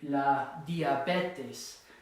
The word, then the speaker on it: diabetes: You notice that it ends in an S, so it's going to be here. It's going to be la diabetes, because it ends in an S, second to last syllable.